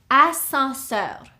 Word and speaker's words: ascenseur: The second one is ascenseur. This is an elevator. Ascenseur. Okay. Here we have 1, 2, 3, 4 syllables. Escalier. The second word, ascenseur. 3 syllables. Ascenseur.